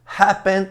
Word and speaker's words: happen: Mas a sílaba tônica não é a última. Abandon é a segunda. Develop é a segunda. Open é a primeira.